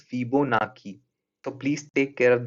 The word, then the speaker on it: Fibonacci: I have been calling this series Fibonacci series, but the correct pronunciation for this term is Fibonacci.